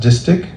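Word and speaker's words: distich: me Pro a pair of okay distic is pronounced distic and a pair or verse lines a couplet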